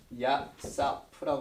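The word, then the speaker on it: יוסף: 근데 요셉의 이름이 야사프라고 발음하는데 이 뜻이 더하다, 추가하다, add.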